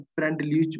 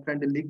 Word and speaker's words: Freundlich: जो फ्रेंडलिक adsorption है, फ्रेंडलीच बोलते हैं, फ्रेंडलिक बोलते हैं, फ्रेंड जो भी आप प्रोनाउंस कर सकते हो बोल सकते हो, बट स्पेलिंग याद रखना